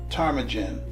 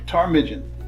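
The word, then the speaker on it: ptarmigan: word p-t-a-r-m-i-g-a-n is sorry tarmigen it's a three-syllable word the p is silent next the word in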